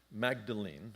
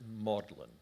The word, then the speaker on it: Magdalen: can't help you um they pronounce it modlin just like the word for sentimental um 1931 uh he